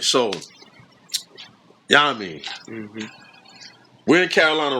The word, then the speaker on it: Yamin: Am I pronouncing your name correctly? Yamin. Yes, sir. Yeah, Yamin. Yep. Like Yamin. Yeah, that's Right.